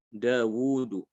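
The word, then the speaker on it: Dawud: dawuh juga Sama ya Daud itu alifnya dibuang ya dibuang tapi cara pengucapannya harus dibaca panjang ini kan Dia dibuang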